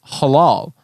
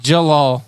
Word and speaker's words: Jalal: and i'm like uh it's pronounced jalal i'm i'm not hispanic that j is not an h j javier javier whatever